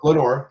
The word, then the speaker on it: Lenoir: Is it Lenoir? Is that how you pronounce Lenor? Lenor County. Yeah.